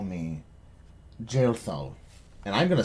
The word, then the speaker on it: Jaethal: You may call me Jailthal. And I'm gonna spell that out, and you guys can figure out how to fucking say that properly. Said jail. Jaethal.